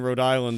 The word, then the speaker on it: Rhode Island: a K and and I always forget that in Rhode Island the H is silent but I was looking